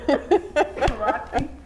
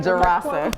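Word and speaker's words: Dzirasa: Sure. That's not going to help you, but Dr. Jarasa, D-Z-I-R-A-S-A. So you're right. Jarasi? Is that right? Jarasa. But Jarasa. anyway, I wanted to say Jarasa.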